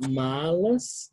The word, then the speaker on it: malas: palavra é mal né vejam bem a pronúncia né a gente fala malas né o som de L malas não é como espanhol que a gente fala malas né em português tem temos que fazer esse som no L né malas